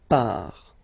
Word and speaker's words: part: Final T not pronounced, il, elle, part. Okay, so you can see that it's part, and then part.